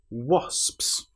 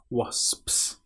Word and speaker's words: wasps: Now this word is quite hard because you have the o when it looks like it should be a but it is o is the correct pronunciation. And then you've got so s ps wasps.